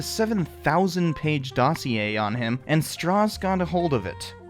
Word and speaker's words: Strauss: One of the enemies he created due to his opposition was Lewis Strauss, and yes, it's pronounced Strauss.